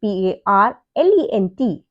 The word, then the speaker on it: parlent: But the total thing PARLENT is pronounced as parle.